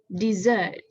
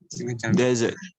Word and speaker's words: dessert: So I will pronounce it as dessert.